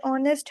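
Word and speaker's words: honest: या फिर जैसे ऑनेस्ट है। यह एच तो वोवेल नहीं है लेकिन फिर भी इसके साथ एन यूज होता है क्योंकि एच यहां पर हम साइलेंट पढ़ते हैं। तो ऑनेस्ट उसको पढ़ते हैं।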